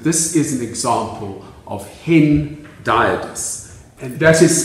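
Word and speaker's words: hendiadys: have stated that this is an example of hin diodus and that is spelled h-e-n-d-i-a-d and it's from the greek one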